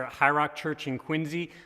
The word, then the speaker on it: Quincy: high rock church in Quincy please don't call it Quincy like with the sea locals will eat you alive its Quincy and it's Massachusetts why